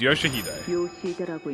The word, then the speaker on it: Yoshihide: No, that's not how you read those letters. It's Yoshihide. That's how you say it.